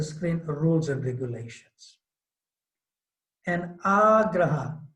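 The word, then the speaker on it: āgraha: And agraha, there's a diacritic dash or mark over the A. So it's pronounced long, agraha, eagerness to accept.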